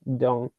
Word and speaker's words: Deng: There were a bunch of guys and a brain trust behind Deng. The actual pronunciation is Dong.